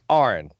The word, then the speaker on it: Aron: after a while because he kept saying Aaron Aaron Aaron and irons fine he said dude it's Arne and he finally got